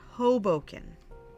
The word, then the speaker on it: Hoboken: It's pronounced Hoboken.